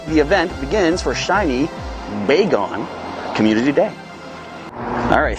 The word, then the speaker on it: Bagon: But did you know it's actually not pronounced Bagon? This was revealed on Twitter through Pokemon's Twitter account. It's actually Bagon for baby dragon.